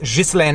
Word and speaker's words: Ghislaine: things before we get started I know people pronounce her name Gillian Maxwell but I am from Quebec it is pronounced Geist LAN and Maxwell and that is how I'm gonna